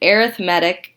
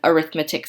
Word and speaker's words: arithmetic: say arithmetic sequences however when we are talking about sequences and this word is right in front of it we change the pronunciation so that way we